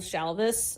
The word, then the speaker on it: Shalvis: the author we're gonna go with is jill shalvis her last name is spelled s-h-a-l-v-i-s i've recommended a joel shalvis book